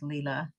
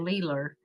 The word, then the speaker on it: Leela: my grandmother's name is Leela, but he always called her Leeler. If it's had an A at the end, he pronounced it with his R's.